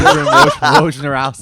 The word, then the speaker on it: Wojnarowski: Wojnarowski.